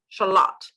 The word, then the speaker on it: Shalott: charlotte ladies a lot shallot so it'll be the same you have the slot onion uh you pronounce it exactly the same but it's spelt differently so the shallot onion